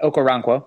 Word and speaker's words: Okoronkwo: He still lost a couple reps, especially when he went up against, I always get this name wrong, Okoronkwo. You got it. Okoronkwo.